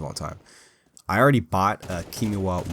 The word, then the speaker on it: Kiwami: I already bought Kimiwa 1, and is that what it's called? Kimawi? I don't know how to say it. I gotta open up Steam here and check. Kiwami, that's it.